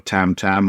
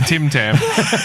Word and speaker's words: Tim Tam: wrong is your name it's a Tim Tam not a Tam Tam but a Tim Tim would have made more sense to you but is a Tim Tam I doit I'm a